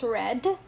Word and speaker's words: read: and then read read past form is still same spelling r e a d but the pronunciation changes so in the past form of this it becomes red and then we have